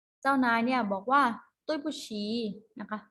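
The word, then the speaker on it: 对不起: โทษ นะ คะ ภาษา จีน ออก เสียง ว่า ตุ้ย ปู้ฉี่ ตุ้ย ปู้ฉี่ แปล ว่า ขอ โทษ ผู้ หญิง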